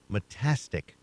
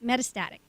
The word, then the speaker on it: metastatic: to look at it metastic breast cancer metastatic very close very close you know and